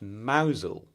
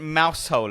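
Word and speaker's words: Mousehole: Is it not pronounced mousel? That would make more sense. But isn't mouse hole a much better name?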